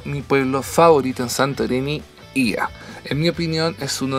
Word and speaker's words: Oia: Les debo confesar que antes de llegar a Santorini solía pronunciarlo Oya, como se escribe, pero los locales me enseñaron que era Ia.